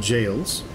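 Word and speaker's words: gaol: these right here are called jails it's spelt in an interesting way and basically those are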